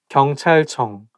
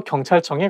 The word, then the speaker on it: 경찰청: department 경찰청 police department so I think It's because CH sound like when is place Next To each other I think going to make the world not easy to pronounce 경찰청 경찰청 and it also has 이응 sound at the end of each character so 경찰청 경찰청 청